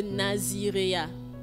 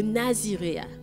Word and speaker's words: naziréat: C'est de là que vient le Naziréa. C'est comme ça qu'on prononce, hein? Les intellectuels, c'est comme ça qu'on prononce. C'est de là que vient le naziréat.